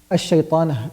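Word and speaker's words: الشيطان: So when I'm saying a'udhu billahi minash shaytan, I'm not pronouncing it because I didn't start with it. But when I'm saying the word shaytan alone, I'm saying ash-shaytan. I'm pronouncing the hamza because I started with it.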